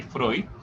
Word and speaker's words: Freud: conocido es signo freud se escribe así frío pero se lee freud el segundo es carl